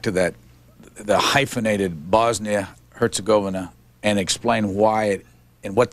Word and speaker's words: Herzegovina: are serbian or croat the accent is usually on the first syllable you have in the